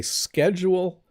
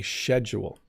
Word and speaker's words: schedule: So in Canada, we say schedule, but some old people still say schedule, okay?